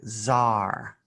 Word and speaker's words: tsar: in bulgaria a selfish this one is pronounced very differently than what it looks like it's actually z-a-a-r like zar a star named paris